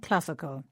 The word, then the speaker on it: classical: And it's the same with classic and classical. In both words, the stress is on the same syllable, this time cla.